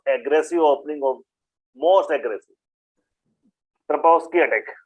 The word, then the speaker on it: Trompowsky: M is silent. Yeah, the way I pronounce Trompowsky, but yeah, it can be Trompowsky also. M can be silent.